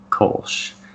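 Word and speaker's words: Kölsch: But the American style, the American pronunciation would be Kolsch. But if you were German, you'd probably say something like Kolsch.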